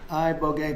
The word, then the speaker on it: Ibogaine: Is that pronounced relatively properly, would you say? Yes. I don't want to get it wrong. Ibogaine, because it's so important, and experienced an 80